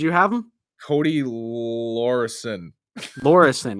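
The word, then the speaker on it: Laweryson: Lorison, is that how you say it? No, you got it. You're spot on.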